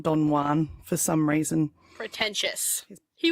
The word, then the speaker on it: Don Juan: I pronounced it Don Juan, not Don Juan, for some reason.